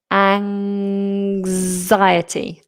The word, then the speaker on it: anxiety: An anxiety. An we have this zed sound. So it's a vibrating voiced ziety. Anxiety.